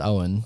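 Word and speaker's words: Eoghan: spelt e-o-g-h-a-n he's from ireland ewan but it's pronounced owen okay so say he's like he's put out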